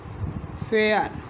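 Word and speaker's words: fair: एफ ए आई आर क्या हो गया, फेयर।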